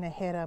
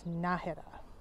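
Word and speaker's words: Nájera: and I see here there's an accent on the a so it's I think I've been saying najera more times so I will remember now it's nahira it's a little after 12 30.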